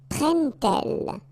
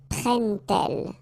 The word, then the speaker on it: prennent-elles: But then here, prennent-elles, okay? So you get your T and then prennent-elles, alright? So prend-il, remember, D pronounced like T, and here, prennent-elles, alright?